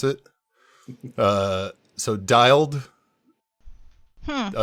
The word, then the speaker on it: dyld: staring into your OSX DILD. How do you pronounce that? DYLD? Yeah, dild. Well, I would say dialed, but some people say dild. I think dild sounds really awkward. I say dialed.